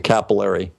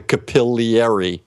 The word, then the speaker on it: capillary: It's not the capillary, it's the capillary. Okay. And we pronounce it capillary.